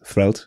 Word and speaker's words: Threlte: creator of thr um in case you didn't know how to pronounce it it's thred actually and uh yeah do